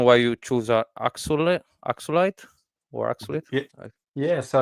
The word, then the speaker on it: axolotl: was the reason why you choose a ax axelite or axelite yeah so it's aelole is what they're called yeah so it's this